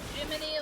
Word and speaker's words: Gemini: I really don't like that they spell it Gemini, but it's supposed to be Jiminy, like Jiminy Cricket.